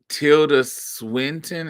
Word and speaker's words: Tilda Swinton: Tilda Swinton. Is that how you say her name? Tilda Swinton. Yes, baby.